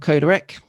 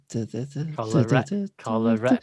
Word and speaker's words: Kolarek: needed a bit more help on top of Kolarek. Is that what we're going for? Said it wrong, guys. Kolarek.